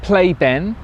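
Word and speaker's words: Pleyben: We've stopped at Playben. Now of course pronunciations and all that, P-L-E-Y-B-E-N, right.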